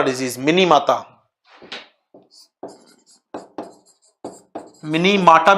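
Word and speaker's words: Minamata: जगह माता लिखते हैं, क्योंकि ये जापानी वर्ड है, जापानी शहर का नाम है, तो जापानी प्रोनाउंस इट मिनी माटा, मिनी माटा, and British pronounce it mini माता।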